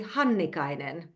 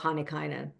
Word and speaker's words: Hannikainen: Okay, if you want to say it the Finnish way, it would be Hannikainen. And that is the correct pronunciation in the Finnish language. But I anglicize it to make it a little bit simpler. So I often just sort of roll the syllables together and I call myself Hannikainen.